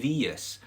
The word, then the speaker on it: bhitheas: see it in a more emphatic form, kunye vias, BHITHEAS, okay? And that's used in with lots of little particles in question forms, kunye vias, kimere vias, nure vias, okay?